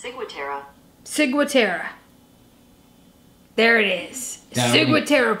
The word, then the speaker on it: ciguatera: That's pronounced ciguatera poisoning. The bitch spelled it wrong again. Type in the word. Hey Google. Spell it for her. How do you pronounce ciguatera? That's pronounced ciguatera.